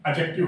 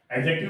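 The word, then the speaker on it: adjective: पुरानी ग्रामर में इसे एडजेक्टिव के नाम से जानते थे, जिसका रियल प्रोनाउंसिएशन एडजेक्टिव होता है। एडजेक्टिव ना कह के हम इसे एडजेक्टिव कहेंगे क्योंकि डी इसमें साइलेंट होता है बच्चों।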